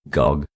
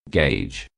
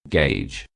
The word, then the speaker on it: gauge: often mispronounced and some non-natives say it as gog when mispronounced it seems that the word has the spellings like g-o-g or g-o-j say this word thrice with me gauge gauge gauge important message if you hear any non-native mispronouncing